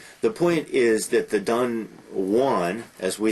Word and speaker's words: Don Juan: using the name is byron's don juan he that wanted that pronounced pronunciation so that it would rhyme with new one uh wonderful long long